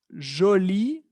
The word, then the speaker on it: jolie: Il est joli. Elle est jolie. ¿Qué observamos? Exactamente la misma pronunciación. ¿Okay? Al agregar una E al final, una E, esa E es muda, lo vimos.